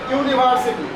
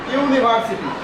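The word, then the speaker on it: university: দিব ক্লিয়ার দেখো এখানে ইউনিভার্সিটি ইউনিভার্সিটি ভাওয়েল রয়েছে কিন্তু উচ্চারণটা হচ্ছে ইউ এই যে এটার মত ইউ এজন্য এখানে ভাওয়েল থাকা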